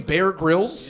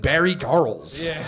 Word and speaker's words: Bear Grylls: sorry was that supposed to be the name Bear Grylls yes because Bear Grylls drank urine on his show that's that's the humorous intent of Mike over there well he also kind of pronounced it Barry Carl's yeah between the number one piss pick in